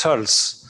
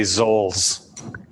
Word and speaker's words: Zoells: It's a German name, and originally it's O with an umlaut. So in German it's Zoells, but here we say Zoells.